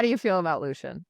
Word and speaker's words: Lucien: I feel fairly confident that it's supposed to be pronounced Lucian in the context of this series, but I'm with you. I say Lucen in my head.